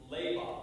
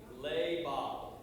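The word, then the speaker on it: לבב: good so in hebrew the term that's translated as heart sounds like the word leiba that's how you pronounce it so say with me lay bob there you go like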